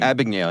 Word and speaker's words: Abagnale: It's like I can't pronounce his name. Abagnale, yeah.